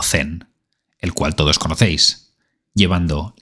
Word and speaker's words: Zen: A esa nueva manera, en China se la llamó Chan, y al cruzar a Japón, siglos después, se pronunciaría como Zen, el cual todos conocéis, llevando la intuición budista a su expresión más pura.